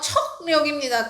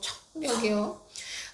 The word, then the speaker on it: 척력: 발음이 청력이지만요. 척력입니다. 척력. 기억이요. 기억이 청력이가 아니고 척력이요.